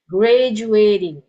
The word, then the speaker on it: graduating: Now graduating, okay, you listen to how I pronounce it, graduating, okay. I don't say graduating, okay, as graduating, okay. Nah, jadi kebanyakan kata-kata dalam bahasa Inggris yang ada ing-nya, kemudian sebelum ing itu ada huruf T ya, ada huruf T, saat kita pengucapannya itu kedengaran seperti D ya, graduating.